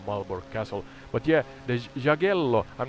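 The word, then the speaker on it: Jagiełło: The Jagiellonian family, or Jagiello as it's pronounced, was like a dynasty powerhouse in Europe at that time.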